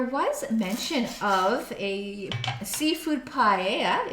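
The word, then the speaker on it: paella: mention of a seafood paa that's how you pronounce it the pi sorry p a e l l a and I would like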